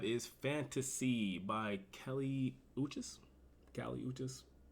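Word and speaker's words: Kali Uchis: um number five is Fantasy by Kelly uchis Cali uchis u c h i s cises pronunciations are difficult I can read and yeah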